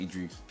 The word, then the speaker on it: Idris: Or you could say Idris. I've actually heard it pronounced Idris, but I would pronounce it Idris.